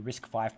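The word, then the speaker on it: RISC-V: V would be risk five so as you risk five processor and then you have risk six it's pronounced risk five as an open source citizens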